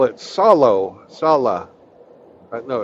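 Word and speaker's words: salo: they call it solo Salah no it's it's spelled s-a-l-o but they they call they say it Salah it's absolutely disgusting and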